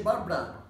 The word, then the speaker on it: Barbara: The pronunciation is Barbara. Barbara. But in English, you say Barbara, you know, in two syllabs. In two syllabs. In Spanish, there are three syllables, but in English there are just two ones, you know.